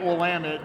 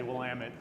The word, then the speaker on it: Willamette: AVA where people don't even know how to pronounce it, let alone it's in Oregon. Damn it, Willamette. We're still training the rest of the country to say Willamette Valley.